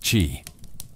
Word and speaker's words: qi: It was about energy, the invisible, vital force called qi, pronounced qi, flowed through every living being.